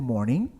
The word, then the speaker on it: morning: tá na língua inglesa palavras com a terminação e NG a gente nunca vai pronunciar o g tá para não ser só